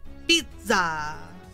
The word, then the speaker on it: pizza: Like with pizza, that's an Italian word. It has the two double Z's. You had to say it like pizza, something like that. You had to like really put the emphasis on the Z.